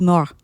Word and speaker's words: mort: Le le petit petit mort, mort, M-O, mort, M-O-R-T, but the T is silent. le petit mort.